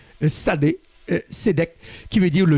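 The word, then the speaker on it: Tsadé: Hein, il faut prononcer le S après le T. Sadé, Sédek, qui veut dire le juste.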